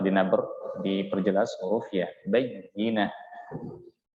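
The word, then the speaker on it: بَيِّنَة: Huruf ta di sini ta marbutah itu dirubah untuk mempermudah pengucapannya dan memperindah pengucapannya, makanya dirubah menjadi huruf ha. Bayyinah. Kalau kita baca bayyinat itu tidak keindahannya beda dengan ketika kita menyebutkan bayyinah. Kalau kita baca ta'tiyahumul bayyinat,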